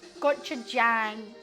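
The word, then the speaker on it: 고추장: It's Jang, not gang. It is. It's gota jang.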